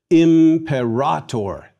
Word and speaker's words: Imperator: Imperator. Our words for emperor and empire derive from this Latin original. Note the long A in the second to last syllable.